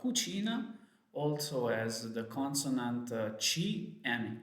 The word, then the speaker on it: chi: So that's the way to have a hard sound when the vowel is E or E. For example, perché, because or why. Or che, the syllable che, C-H-E. Or chi, C-H-I, who.